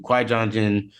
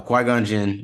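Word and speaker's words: Qui-Gon Jinn: trilogy including Ahsoka um Anakin Skywalker Count Dooku Kwai Junction uh qui-gonjin why did I say it like that Yoda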